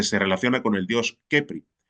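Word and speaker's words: Khepri: relaciona con el dios Kepri, pronunciando más o menos como Jepri, nombre manejado renglones arriba,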